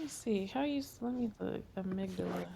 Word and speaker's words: amygdala: Amygdala. It's Amy G. Dalla. That's how you spell it.